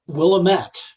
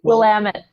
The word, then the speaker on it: Willamette: Claremont School of Theology, Willamette. I'm sorry, I pronounced that wrong. It's Willamette. Willamette. It's like, damn it, Willamette.